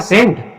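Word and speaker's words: scent: अब यहाँ पे ENT, तो सी से पहले जब भी एस आता है तो उस समय सी साइलेंट रहता है। तो इसको क्या पढ़ेंगे बेटा सेंट, क्या पढ़ेंगे सेंट, मतलब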